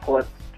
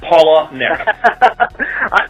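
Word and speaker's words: Palahniuk: uh writer uh Chuck pullitz yeah I can never say his name nobody can it's Paula Nick okay postcards from the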